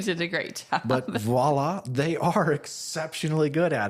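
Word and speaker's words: voilà: But voila, they are exceptionally good at it.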